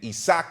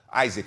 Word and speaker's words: Isaac: about roley Romero and isak or Isaac I have to say it like that I'm from Miami I say Spanish isach but Isaac Cruz at pitbull versus